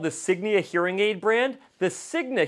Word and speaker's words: Signia: thing that you may not know about the Sigma hearing aid brand is that there is um no such thing as the Sigma Hearing A brand. The brand I'm actually talking about is called Signia.